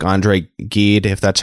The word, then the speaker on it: Gide: Dialogues where he debates with people like Andre Gide, if that's how you pronounce his name, and Oscar Wilde, and that sort of... Yes, it's Gide.